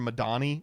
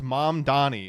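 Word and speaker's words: Mamdani: Zuron was like Cuomo kept calling him like Mr. Madani and he was like it's mom Donnie and he's like you're going to have to learn how to say it.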